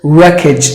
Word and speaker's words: wreckage: letter E is silent so you have to pronounce the word as wreckage again something that is spoiled something that is